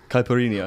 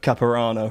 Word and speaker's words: caipirinha: Or maybe you can help me with the pronunciation. Caipirinha. Caipirinha. What were you calling it? Caparano.